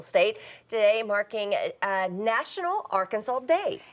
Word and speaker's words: Arkansas: colonized the state they gave the word a special French twist as can be seen by the silent S at the end of the word Arkansas now Arkansas is also